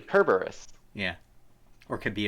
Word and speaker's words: Cerberus: is it like a Latin doesn't have any soft C's oh yeah that's why like it's not Cerberus it's actually kerberus yeah or it could